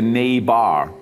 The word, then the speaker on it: Neighbar: show and it's spelled it's not spelled wrong because you know like people think it's the neighbor but it's the nay bar a word that doesn't exist you know it makes